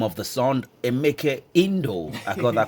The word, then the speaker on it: Emeka Indo: Emeke Indo. I got that correctly right now. Thank That's how the name is pronounced.